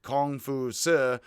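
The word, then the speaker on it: Kǒng Fūzǐ: So Confucius is Kong-fu-si.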